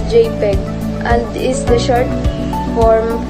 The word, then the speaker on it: JPEG: on their file names gpg this is pronounced as JPEG and is the short